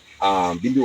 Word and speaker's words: Bimbi: Normally, when the Europeans came here, they make King Bimbi, they cannot pronounce the name Bimbi. They started calling it Bimbia. Bimbi was not happy. No, my name is not Bimbia. My name is Bimbi.